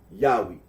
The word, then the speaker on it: Yahweh: that of those who regard this name as anciently pronounced yahwe like the Samaritan well okay well as